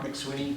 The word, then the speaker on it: McSweeney: State your name, spell it for the record. McSweeney, MCSWEENEY.